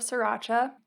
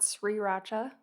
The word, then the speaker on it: sriracha: are a bottle of sriracha the first r is silent i am still working on that it's not sriracha and a seitan burger